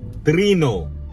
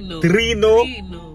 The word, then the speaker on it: Trino: So today we're at Trino's food truck in Pompano Beach, Florida. TRINO. Don't be coming in here pronouncing it Americanized. They're Venezuelan. We respect them. TRINO.